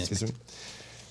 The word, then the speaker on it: Kissimmee: Is that how you pronounce it? Yeah. Kissimmee.